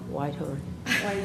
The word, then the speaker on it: Whitehorn: And I think I said your last name wrong, Whitehorn. Whitehorn? Yeah. Wharton. I said Wharton.